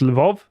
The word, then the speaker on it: Lviv: you told me that it's pronounced Lvov. I think Lvov, I think. LVIV, so you might want to correct us if that's wrong.